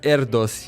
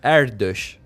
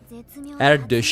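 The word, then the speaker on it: Erdős: Something very interesting was with Healia, because initially I pronounced her name as Erdos Healia, and then someone corrected me in the comments telling me that her name is Hungarian, and that's not the right pronunciation. And then it dawned on me that I speak Hungarian, and I looked at her name again, and then I realized that yes, it's in Hungarian, and the pronunciation for her name is Erdos.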